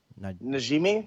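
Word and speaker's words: Najmi: Najimi, Najimi.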